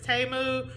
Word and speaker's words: Temu: and you like baby we've been saying t this whole time and I'll probably start saying teu but I'm pretty sure it's TAMU but you know language